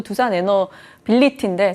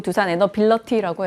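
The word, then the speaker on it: 두산에너빌리티: 저도 두산 에너빌리티인데 자꾸 두산 에너빌러티라고 해서 시청자분이 계속 지적을 해주셨어요. 그래서 고쳤습니다.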